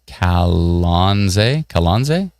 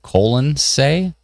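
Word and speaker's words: Colonsay: Tammy says, you pronounce it Kalonze instead of colon say. I naturally would have gone with colon say, but it's Kalonze.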